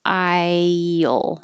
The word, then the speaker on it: I'll: I'll. Your tongue should slide down and make I'll. Or it's easier just to keep your tongue more flat and up for the L, I'll.